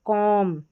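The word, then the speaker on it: comb: पढ़ा जा रहा है और बी यहां पर साइलेंट लेटर है। बी क्या है? साइलेंट लेटर है। देखिए लैम पढ़ेंगे। यहां पर बी का उच्चारण नहीं होगा। यहां पर देखिए कॉम बी का उच्चारण नहीं होगा।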